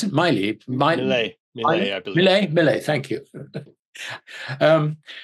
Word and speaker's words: Milei: You know, and I was fascinated with the Argentinian situation with President, how do I pronounce it? Milei, I believe.